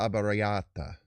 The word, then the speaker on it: arrabbiata: Pasta alla abbariata. There we go. There we go. Had to find it. You gotta roll your R's a little bit.